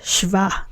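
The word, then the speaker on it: שְׁבַע: its feminine is Shiva in its construct state it is pronounced shva shva so we say construct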